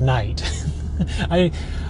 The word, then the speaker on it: knight: admit, to get that was a French mispronunciation of the word knight. It's based in real linguistics. Native speakers, the way that they enunciate particular phonemes leads them to read knight with the hard K in front of it.